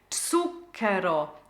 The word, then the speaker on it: zucchero: Zucchero, zucchero. So the TS sound for the Z, zuc, double C, kero, portin.